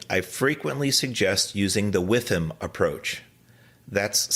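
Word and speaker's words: WIIFM: When coaching, I frequently suggest using the with him approach. That's spelled WITHM.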